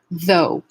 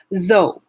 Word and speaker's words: though: you press here though so many languages are lacking this voiced th sound so you might get a replacement a substitution of another sound a close sound like zed so you might hear zou so for although you